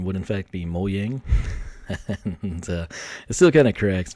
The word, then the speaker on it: Mojang: you know everyone's Swedish and so it's like moang and I'm still going to call it Mojang because I live in Texas and it's what